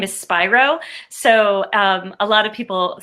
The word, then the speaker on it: Spiro: sure everyone knows it's my last name is spyro so a lot of people say how do you pronounce it so i have one of those